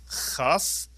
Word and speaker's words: chaf: If you take a dagesh out of the cuff, it is pronounced the same way that we pronounce the chet, with the clearing of the throat, and therefore we call it a chaf, but it's really a cuff that makes a ch sound when you take the dagesh out.